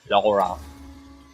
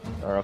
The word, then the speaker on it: Lara: The character Lara Croft, Lara, not Laura. Don't pronounce Laura. I need to. Okay. Wait. Lara Croft 2018.